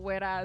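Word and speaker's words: Güera: But the big thing to note is that Wera is spelled Guera. And technically it's the U with the 2 dots, but unfortunately the website and Gmail, they don't let you.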